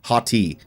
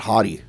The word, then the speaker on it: Hati: I always said like Hati, not Hottie. I think that's funny though. I mean, she's a hottie, so it's Shin Hati.